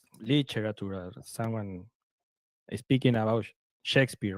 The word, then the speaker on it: Shakespeare: Um he said he was talking about Shakespeare and he said shakpare because that's the way you should you will pronounce Shakespeare if you pronounce in the way pronounce it.